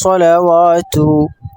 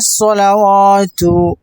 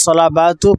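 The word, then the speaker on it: صلوات: বিসমিল্লাহির রহমানির রাহিম আত্তাহিয়াতু আত্তাহিয়াতু লিল্লাহি ওয়াস সালাওয়াতু আপনারা ভালো করে শুনবেন প্রথমে তারপর উচ্চারণ করবেন যাতে করে আরবি উচ্চারণটা সঠিক হয় শুদ্ধ হয় এজন্য ভালো করে শুনে উচ্চারণ করবেন আবার চলুন আত্তাহিয়াতু লিল্লাহি সালাওয়াতু আবার আত্তাহিয়াতু লিল্লাহি সালাওয়াতু অনেক সময় আমরা শুনি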